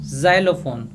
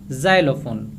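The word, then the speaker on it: xylophone: और दूसरा वर्ड अगर मैं बोलूँ ज़ाइलोफोन, तो यहाँ पे देखो एक्स को ज की तरह प्रोनाउंस किया गया और यहाँ पे क्या बोला गया, ज़ाइलोफोन।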